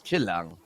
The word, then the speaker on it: Chill Lang: And by the way, it's how you pronounce it is Chillang.